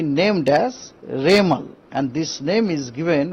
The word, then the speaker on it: Remal: और साइक्लोन जब बनेगा, साइक्लोन बनने का बाद उनको नाम होगा रेमल, रेमल प्रोनाउंसिएशन होगा रेमल, उसका स्पेलिंग है REMAL, रेमल।